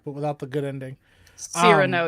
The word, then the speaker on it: Cyrano: Cyrano, you barbarian. I pronounced it correctly. No, I'm not you gonna said say like Cyrano. You said I like said Cyrano. Girno. No. Cyrano.